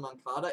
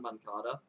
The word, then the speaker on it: Moncada: money talks yo-yo on moncada it is Yolanda man cata everyone's been saying it wrong for about two years now Yolanda Mon Tata and